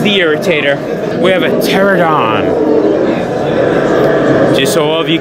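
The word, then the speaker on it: Pteranodon: irritator we have a pterodon just so all of you kids know at home his name does start with a P but the p is silent his name's not the peteradon or the pterodactyl yeah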